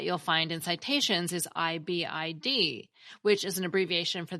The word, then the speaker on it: ibid: again and people usually pronounce that as ibid not ibedum and sometimes we spell